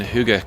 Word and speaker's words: hygge: Do you get involved in hygge culture, or do you have your own version of?